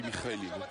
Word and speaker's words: Mikhailin: On dit Mikhailin. Ouais, on prononce à la russe.